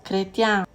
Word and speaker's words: chrétien: Mais attention au mot chrétien, chlore et choléra, qui se prononce avec une K.